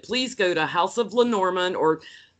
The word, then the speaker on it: Lenormand: I'm here with Becca from House of Lenormand.